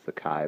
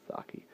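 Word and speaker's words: Saki: other stories by sake who I used to pronounce the Chi but it is pronounced sake illustrated by my favorite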